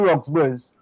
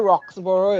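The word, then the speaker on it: Roxborough: says she know where roxbury's and i'm sure i is a beijing and i know where roxboro is okay i know it's not roxbury hello that is phonetically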